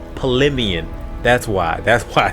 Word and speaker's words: Palemion: I remember I said like palmetto and I think I was thinking pimento cheese but it was paleian.